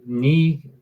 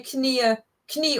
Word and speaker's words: Knie: Beuge deine Knie or Knie, leicht mehr Stabilität zu haben. Knie is a weird word. Well, first of all, we don't have the silent K like in English.